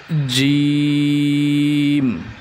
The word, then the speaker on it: ظ: জা উচ্চারণের সময় জিহ্বার আগা সামনের নিচের দুই দাঁতের আগার সাথে লাগিয়ে উচ্চারণ করতে হবে।